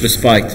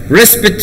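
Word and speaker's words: respite: واحد طلعها ريسبت، هاي ريسبت تلفظ ريسبت مش ريسبايت.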